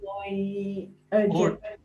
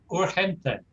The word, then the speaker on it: urgente: Well, it's very close to the English, but we have to pronounce it slightly differently, don't we? Muy urgent. Urgente.